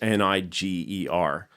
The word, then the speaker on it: Niger: called the negea expedition that's n-i-g-e-r which is pronounced niger um you know that